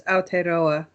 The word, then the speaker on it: Aotearoa: It's in the native language Tereo. It's Aotearoa Vapers Community Advocacy. Okay. It's fine. I'm going to try to get that right once again. Could you pronounce it again? Aotearoa Vapers Community Advocacy.